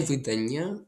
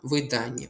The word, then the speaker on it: видання: Наголос тут падає на ані. Не видання, а видання.